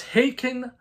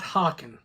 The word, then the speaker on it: Haken: It's Haken like bacon, not hawken.